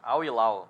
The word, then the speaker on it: Al Hilal: Clubes, vai enfrentar o Al Hilal, né? É assim que se fala, Rafael? Al Hilal. Al Hilal? É. Al Hilal, segundo o Rafael Henrique Fernandes, especialista em pronúncia árabe.